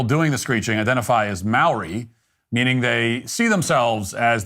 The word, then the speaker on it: Māori: Firstly, you're pronouncing it wrong. It's Maori, right? Not Maori.